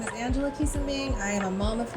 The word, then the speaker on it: Quisumbing: But today we have Angela Quisumbing. Did I say it right? It's Quisumbing. Quisumbing.